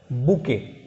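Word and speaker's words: bouquet: आपका B word चल रहे हैं, इसका सिक्स वर्ड है, बी में six word बुके, BOUQUE, T silent है, बुके बुके वर्ड है, टी साइलेंट है।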